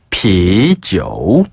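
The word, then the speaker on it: 啤酒: 중국어로 비지오. 비지오. 비지오. 지오 하는데요. be어를 비슷한 발음으로 바꾼 거고요.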